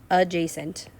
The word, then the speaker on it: adjacent: c e and t it's kind of a funky way to pronounce that word but adjacent uh j sent okay since they're adjacent